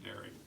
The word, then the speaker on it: Dirk: klein derek van dyke is spelled dirt g-i-r-k but in blemish you say derry and i've known him